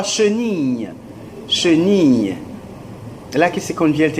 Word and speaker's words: chenille: La I se pronuncia como Ia. Yes.